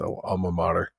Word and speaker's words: alma mater: The old martyr kind of a thing or whatever it's pronounced alma mater.